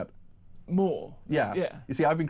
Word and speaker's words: Moore: Moore. Yeah. You see, I've been criticised for pronunciation of that today, but Gaza apparently is it's a bit beyond AI.